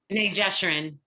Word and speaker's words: B'nai Jeshurun: And since 2001, she served as rabbi at B'nai, how do you pronounce that? B'nai Jeshurun.